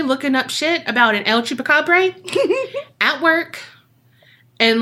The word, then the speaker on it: El Chupacabra: It's El Chupacabra. Okay. It's always El Chupacabra.